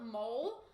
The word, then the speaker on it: mole: Because like it looks like it's spelled like mole, but like it's pronounced mole, right?